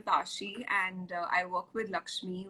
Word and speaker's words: Lxme: and i work with lakshmi which is pronounced lxme as you can see uh lakshmi is india's